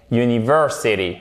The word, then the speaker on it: university: Parce que la prononciation, c'est y. Ça commence par un y. Et du coup, c'est un son consonne. C'est pour ça qu'on dit a university.